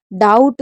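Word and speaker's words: doubt: हमारा B silent है डाउट में डीओ यू बी टी इसमें भी बी साइलेंट है और इसे पढ़ेंगे सटल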